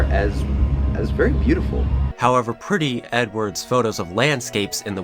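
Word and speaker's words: Eadweard: That being our protagonist, Edward Muybridge. Yes, his name had the same pronunciation as Edward.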